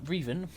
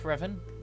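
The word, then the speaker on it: Rivan: of the sith lord darth riven yes darfur even not darth revan the mispronunciation of his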